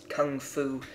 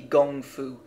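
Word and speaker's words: gōngfu: words at that time it was translated as Kung Fu and the term became popular actually it should be gongfu not that it matters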